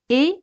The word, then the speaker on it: est: Tout le monde est méchant. Tout le monde est méchant. EST, como os dije antes, se pronuncia como E española. Tout le monde est méchant. Como veis, T al final no se pronuncia.